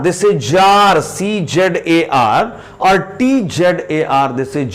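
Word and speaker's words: czar: Jar, this is Jar, C-Z-A-R, or T-Z-A-R, this is Jar. The king of Russia is called Jar. C or T is silent, it is not pronounced.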